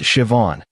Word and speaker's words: Siobhan: Her name was Siobhan, pronounced Siobhan.